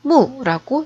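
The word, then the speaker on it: 木: 땅에 뿌리를 내리고 가지가 뻗어 있는 한 그루 나무의 모양.이 이 나무 목자는 중국어로는 무라고 읽습니다.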